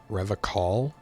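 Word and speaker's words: Revachol: Revacol? He pronounces Revacol with a hard K, unlike other people.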